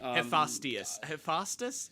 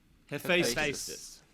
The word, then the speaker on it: Hephaestus: Hephaestus. I don't know how to. It's not. That's not how you Yeah, I pronounce don't know it, how but to I know what pronounce you it.